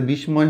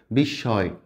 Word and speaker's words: বিস্ময়: পড়েছি এটা আসলে কি এটা বিস্ময় হবে না কিন্তু ম এর উচ্চারণ হবে না এই যে স টা আছে না এই যে দন্ত সটা এটা ডাবল হয়ে যাবে হ্যাঁ বিস্ময় বিস্ময় মানে অবাক হওয়া